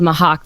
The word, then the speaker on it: Mhach: yeah taser pointed out the city is called Mahaw the people are the Makai okay Mahaw whatever okay sure it's spelled m a fim uh so yeah we